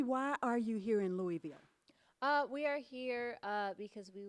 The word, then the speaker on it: Louisville: Oh, we absolutely love, let me say it correctly, Louisville.